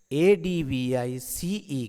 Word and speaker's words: advice: There's also a pronunciation difference. Advice has an S sound. එතකොට මේ advice කියන එකේ S sound එකක් තියෙන්නේ. advice and advice has a Z sound.